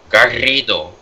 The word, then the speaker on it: Garrido: cool I understand but the proper way to pronounce it is Garrido and she is like